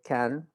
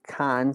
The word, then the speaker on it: can: In the case of the verb can, normally you try not to pronounce the A. You don't say can so open. You just kind of say like can, especially when you're speaking fast.